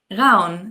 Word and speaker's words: Ravn: Ravn. Yeah, that's my last name. It's not Raven.